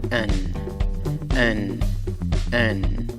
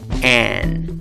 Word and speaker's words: an: La pronunciación de esta palabra comienza con el sonido de la vocal débil schwa, A, más el sonido de la consonante N. Pronunciarás la palabra como an. Sin embargo, si por alguna razón deseas darle énfasis a la palabra, el diccionario Merriam-Webster sugiere una segunda pronunciación, an.